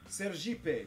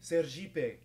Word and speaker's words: Sergipe: There's a stupid joke, which Brazilian state wants to be a jeep? Sergipe, because, you know, in Portuguese, ser means be, and jeep is how you pronounce it.